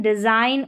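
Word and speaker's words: design: देखिए जी और एन का कॉम्बिनेशन, साइन, डिजाइन और अलाइन, जी यहाँ पर साइलेंट है।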